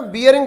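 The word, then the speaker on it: bearing: बियरिंग का मतलब जिसको गांवों में बैरिंग बोलते हैं, बैरिंग, तो बैरिंग शब्द ठीक नहीं है, बैरिंग गलत शब्द है, उच्चारण बियरिंग बोलना है।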